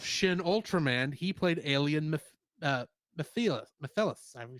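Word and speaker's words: Mephilas: And in the English dub of Shin Ultraman, he played alien Mephilus. However you say his name. Mephilus? Yeah, basically like Mephistopheles.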